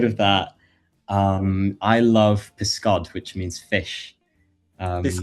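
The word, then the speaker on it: pysgod: Um but outside of that, um I love piscod, which means fish. Um piscato. Piscato. Piscod. So it's spelled um p ys g o d.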